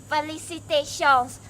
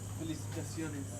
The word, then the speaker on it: felicitaciones: Felicitations. Oh, did I say it correctly? Felicitaciones.